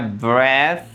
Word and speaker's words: breath: Kalau ada e-nya bacanya i. Kalau enggak ada e-nya bacanya e. Ini bacanya breath.